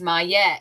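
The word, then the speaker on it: Maat: May pronounced Mette is an ancient Egyptian dity associated with truth, harmony, and balance.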